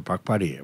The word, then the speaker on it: 박바리: 이제 표기는 이제 정확한 표현은 북발인데 네. 제주도식의 그 아래아 그, 아~ 그 발음이 모음이 남아서 이제 박발이 박발이라고 합니다.